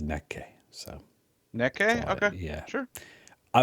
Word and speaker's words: Nek!: And I think, Mark, this band is pronounced Neke. The reason I'm saying that is because we did a live stream and we did hear one song from this group, and somebody in the chat said it's pronounced Neke.